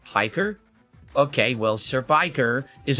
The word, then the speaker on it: Piker: Anyway, let's get into this June the King documentary on Hassan Pekker. I've always been interested in how you become a commie jock. He's a lol cow in his own right. It's pronounced Piker?